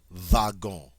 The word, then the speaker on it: wagon: English is actually pronounced vagon because the W also has the v v sound all right number four